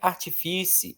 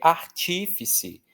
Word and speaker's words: artífice: Não é artifíci, é artífice, não é país.